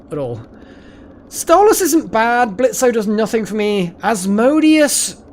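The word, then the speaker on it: Blitzø: um what's blitzo sorry Blitz Blitz sorry the a is silent blitz's um uh friend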